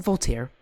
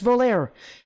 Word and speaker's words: Volare: By the way, did I just call them Voltaire? That's not how they pronounce their name. It's Volare.